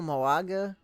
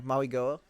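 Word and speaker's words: Mauigoa: Maybe they go Moago. I don't know how to say his name. I apologize. Maui-Goa. Sorry, Maui-Goa.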